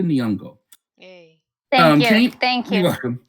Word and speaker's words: Nyong'o: Okay, I'm gonna say it straight because I always say it like the rappers do, but Lupita Nyong'o.